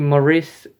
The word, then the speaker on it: Maurice: You could almost argue Maurice, is how you pronounce his name, is like in quite